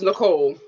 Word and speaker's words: Nichole: i know a girl named nichole and it's pronounced nicole so we just want